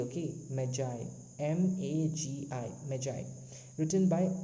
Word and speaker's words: Magi: Magi spelling is Magi, not Maggie. Okay, Magi, Magi, Magi, written by O.